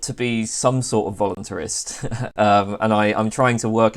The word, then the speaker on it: voluntarist: How's it pronounced? Voluntarist, I would say.